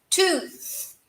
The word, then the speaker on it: tooth: Dente só é tooth. Tem que lembrar de fazer o no TH no final, hein? Tooth.